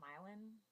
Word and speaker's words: Milan: Okay, I guess you could call it Milan, but it's Milan, dude.